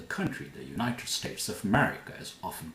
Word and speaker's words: America: Also the country, the United States of America, is often called America. The United States of America. How do you say this? America. America. America. America. Not America. The country is called the United States of America.